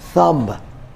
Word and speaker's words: thumb: this doubt not doubt third word is thumb h u m b here b is also silent and we